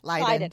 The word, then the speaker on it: Leyden: sorry, Leyden. See, I Leyden. knew I was pronouncing it wrong.